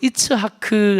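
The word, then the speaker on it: יצחק: 이치라 그 외에 어 히브리어로 이츠하크 라고 읽는데 웃었어요 2차 글 및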